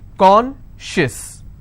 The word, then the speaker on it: conscious: not apply here okay conscious how many syllables do i have two and i will stress on con concious okay precious how many